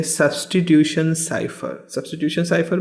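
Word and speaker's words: cipher: That is what is साइफर। तो इसका जो प्रोनाउंसिएशन है वो आप देख रहे हो, SAIPFHUR फर, सो साइफर।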